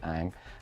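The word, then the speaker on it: Ingres: art history painting by Ang. That's I-N-G-R-E-S. That's how you pronounce it. You say it Ang.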